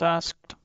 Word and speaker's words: asked: How do we pronounce asked? I find it difficult. Good question. It is pronounced / skt and t come together quickly. So, not ask. Right. Right. It has just one syllable.